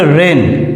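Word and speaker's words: reign: উচ্চারণটা হয় নাই এরপরে রেন আর ই আই জি এন এখানে জি এর উচ্চারণ বাদেই উচ্চারণ হয়েছে রেন রেন যার অর্থ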